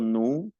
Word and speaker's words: nous: La O y la U es U, digo nous, vous, la rue.